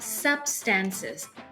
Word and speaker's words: substances: ที่ 2 นะ คะ ส่วน คำ ว่า substances sub stress ที่ พยาง ที่ 1 ก็ คือ คำ ว่า sub นะ คะ คำ ว่า substance